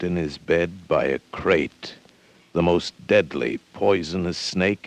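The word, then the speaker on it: krait: snake a crate is first the crate you spell it k r AI T they're in India the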